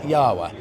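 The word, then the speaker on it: Jawa: this is an old I think they pronounce it yahwa 1969 Speedway f 500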